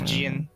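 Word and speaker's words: Djinn: It's Jin. Jin, whatever. And we get The a, D is silent.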